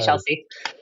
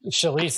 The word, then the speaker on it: Shalise: Man, just don't call me Chelsea. Right. Shalise, not Chelsea.